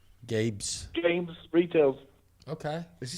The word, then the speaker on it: Gabe's: But It's a he's retail saying Gaines, but I heard Gaines, but it's Gabe's.